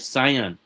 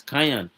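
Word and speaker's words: cyan: I said can. And he said it's not can it is cayenne.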